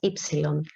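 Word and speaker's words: έψιλον: is the epsilon um this is not a nu it's not a u it's an e it has a sound e and the name is epsilon so if i want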